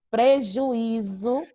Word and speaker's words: prejuízo: Ó, prejuízo.